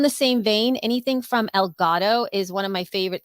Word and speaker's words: Elgato: El Gato is who knows what, because I don't know what that It's the means, but you cat.